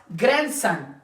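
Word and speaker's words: grandson: रंग फिर हमारे पास ग्रैंड सन ये ग्रैंड सन नहीं ये ग्रैंड सन ग्रैंड सन यहां पे डी क्या है हमारे पास साइलेंट है फिर उसके बाद वेज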